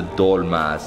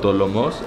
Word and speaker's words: dolma: And then we have the dolmas, and these are called dolomos, or how do you say them? Dolma. Just dolma? So in Greek, it's dolmatis, and it's basically, it's